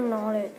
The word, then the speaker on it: knowledge: Common sense means how to spell knowledge. Let's sound it out. How would we sound out knowledge? Common sense means the knowledge. Knowledge starts with a silent K.